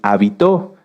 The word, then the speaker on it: habitó: muchas definiciones de hecho si cambiamos el acento de la palabra hábito lleva acento en la a se refiere a esto a nuestras costumbres y si lo cambiamos hacia el final es habitó que viene de habitar fíjense que có en